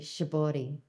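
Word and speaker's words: 絞り: correctly for us again shabari shabor shab you don't in Japanese you don't really say an R so it sounds more like a d shabot and um it's um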